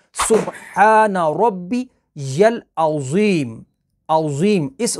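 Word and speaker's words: عظیم: दफ़ा आप पढ़कर देखिए, अज़ीम पढ़ते हैं अक्सर लोग, सुब्हाना रब्बी यल अज़ीम, ज़ा के साथ।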